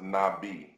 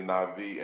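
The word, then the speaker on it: נביא: word na'vi in Hebrew which is often pronounced nabii but it's actually na'vi and it's it it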